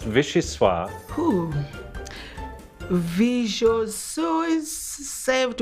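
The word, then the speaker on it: vichyssoise: aroma is divine vegeta is spelled v-i-c-h-y s-s-o-i-s-s-e pronounced visceswa who visual sue is served with cossette's homemade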